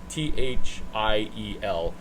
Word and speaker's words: Thiel: Peter Thiel, Thiel, pronounced teal like the color, Thiel, never explained how he went 0 to 1 million.